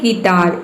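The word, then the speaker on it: guitar: देखिए यहां पे है गिटार इसमें यू के बाद क्या आया है आई आया है आई क्या है आई है तो इसमें यू जो है वो साइलेंट है ये है गिटार इस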